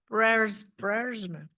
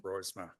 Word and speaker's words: Brosma: Berma, how do you say your name? Borisma. Berma. Okay. Brosma, please.